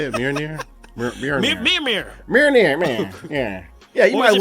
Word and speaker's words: Mjolnir: Mjolnir.